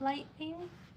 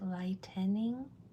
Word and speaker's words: lightning: The N in the middle of lightning. Oh, why isn't it lightening? That e right there, that vowel sound, if it was lightening, that e, that additional vowel sound would make it a whole another syllable.